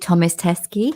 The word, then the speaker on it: Thomas Teskey: and you mentioned um is it Thomas teskey yeah is that how you pronounce it yeah so um thank you